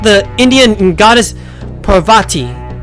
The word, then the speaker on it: Parvati: twisted for correcting me parvati yeah that's how you say it oh yes